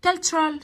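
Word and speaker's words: culture: هنشوف بقى في الدرس هنقرأ كالتشرال ثقافة، كالتشر ثقافة، الكالتشر التي يو ار اي بنطقها تشر تشر، كالتشر كالتشر كالتشر ثقافة.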